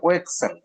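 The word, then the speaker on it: Wechsler: এস এই নামটা মনে রাখতে হবে এটা হচ্ছে ও এক্সেল ডব্লিউ ই সি এইচ এস এল ই আর এটাকে ও এক্সেল বলতে হবে আর উচ্চারণ আসবে না সাইলেন্ট লেটার এস এল এর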